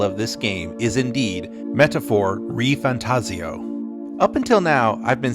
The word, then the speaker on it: ReFantazio: it's now confirmed that the proper way to pronounce the title of this game is indeed metaphor re fantasio up until now I've been saying fantasio because